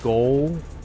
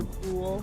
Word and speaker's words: Ghoul: The goal? The Ghoul. The Ghoul. Oh, okay, that's cool. I said it wrong.